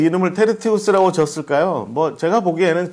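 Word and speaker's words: Tertius: 그래서 이 사람의 이름이 우리말로는 더디오 이렇게 돼 있지만, 뭐 더딘 사람 더디오 이렇게 돼 있지만, 원래는 이제 원래 발음으로 치자면 테르티우스, 테르티우스 여러분 지금 화면에 보시는 것처럼 프리무스, 세쿤두스, 테르티우스, 콰르투스 이렇게 되면 뭐냐면 첫째, 둘째, 셋째, 넷째 이런 뜻입니다.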